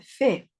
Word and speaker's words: fait: Terminaba en T, ¿sí? Pero la pronunciación de estos tres es exactamente la misma.